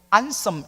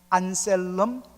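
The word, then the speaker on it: Anselm: 학자가 안셀름 오브 캔터베리, 영어로는 이제 안섬 이렇게 L을 묵음으로 해서 안섬 이렇게 이야기합니다. 근데 보통 정확하게 말하면 안셀름 오브 캔터베리, 캔터베리의 안셀름입니다.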